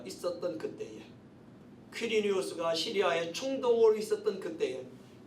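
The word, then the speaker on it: Quirinius: 또 구레뇨는 보통 퀴리니우스라고 발음합니다. 퀴리니우스.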